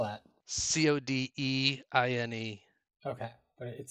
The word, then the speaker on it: Codine: do you spell that c o d i n e okay but it sounds like coding but it's Codine it's one of the